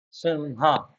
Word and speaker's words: Simha: Simba is mainly is nothing but Simha. As I have already discussed that ma and ha is somewhat pronounced uh correspondingly each other.